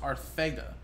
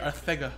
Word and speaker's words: Arcega: You think of Arcega, but I think he recorrected a lot of people saying that it's pronounced Arcega. So I seen a funny post the other day. It was like, when you see this, you don't think of th at the end of GA. So the way he says pronounce it, it's kind of like how Mike Tyson would have said it.